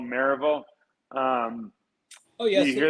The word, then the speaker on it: Maryville: when i moved here it's maryville right but all the locals say mervil and i just and